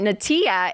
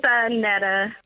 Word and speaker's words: Annetta: We have, is it Natia in Chicago? Hey, welcome to the show. Hi, it's Annetta. Oh, Annetta, I'm sorry, Annetta.